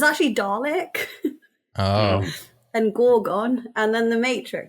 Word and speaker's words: Dalek: So, I was pronouncing it wrong when I say Dalick. Yeah. I was trying to go for Dalek like in Doctor Who.